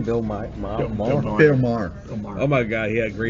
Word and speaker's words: Maher: Like the guy in HBO, Bill, how you pronounce his last name? Bill Maher? Bill Maher.